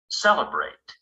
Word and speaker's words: celebrate: We put the stress 2 syllables before the ate. Celebrate.